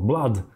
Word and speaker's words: blood: самое важное слово кровь хотя там две буквы о думаешь Ну это как слово книга две буквы о - это звук УК нет слово BL там произношение именно а BL BL краткий звук а запомните BL это кровь BL Давайте пере слушаем